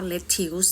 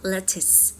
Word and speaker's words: lettuce: เป็น ผัก นะ คะ ไม่ ออก เสียง ว่า letuse นะ ออก ว่า lettus ตัว อย่าง การ ใช้